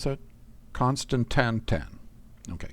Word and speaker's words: constantan: 10 of them how was that happen and Constantine ingots and glass so let's go back and get that stuff actually I probably pronounced that wrong how should I pronounce that constantan 10 okay constantan and uh glass am I going to have